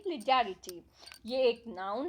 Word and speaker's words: legerity: आर आई टी वाई और इसकी pronunciation क्या हुई लिलिट यह एक नाउन है